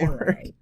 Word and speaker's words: habanero: There's They're clearly idiots not an and R pronounce it roll on that habanero. word. It goes habanero. Habanero. There's not a trill over the R, bro.